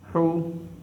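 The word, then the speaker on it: حُ: I am giving Pesh over the Ha, and you have to pronounce this one Ha Pesh, Ha Pesh Hu, Ha Pesh Hu.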